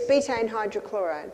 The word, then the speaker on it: betaine hydrochloride: the supplement bedding hydrochloric wait let me just pronounce that correctly it's betaine hydrochloride yes with pepsin is